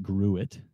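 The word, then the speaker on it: Gruit: it it's called a grew it so it looks like the word fruit but with a G but I asked the brewer there and he actually he said that it's actually pronounced grew it so it's a grew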